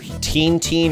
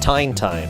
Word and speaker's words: Tintin: Yeah, all I can see otherwise is it's Teen or Tine. And I'm pretty sure it's not Tine, okay? 90% sure there.